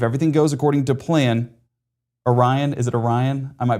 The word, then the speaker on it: Orion: was like I wish you knew how to pronounce Orion.